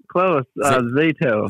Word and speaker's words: Zato: of, I'm going to not pronounce this correctly, ZATO. Is that correct? Close. ZATO. ZATO. Although, curiously, most people do pronounce it ZATO the first time around.